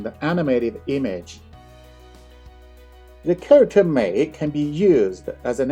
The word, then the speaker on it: 美: The character we're about to learn today is pronounced Mei, which is a third tone.